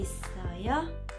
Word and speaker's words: 있어요: Y la H es muda. Is. La sílaba que le sigue ya la vimos, es decir, está repetida, que sería la O más abierta, O. Y la sílaba final sería traducida H-I-O, que como la H es muda, solamente sonaría yo. Parecido como yo, pero separándola ahí con la O. Yo.